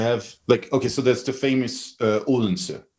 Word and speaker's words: Odense: Anyway, so back to So that's Odense, and that's how it's said in modern Danish.